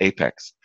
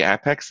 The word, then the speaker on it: APEX: be in the know it's pronounced Apex and she said but it's application expressed shouldn't it be a pecks and I said Safa I'm sorry it's it's apex so then eventually they